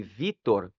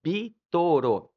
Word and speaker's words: Vítor: E para pronunciar o meu nome Vítor, eles utilizavam sílabas e aí ficava bitoro.